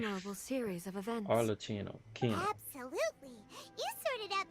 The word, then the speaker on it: Arlecchino: This That's how has you certainly pronounce been a her name. memorable series of events. Arlecchino.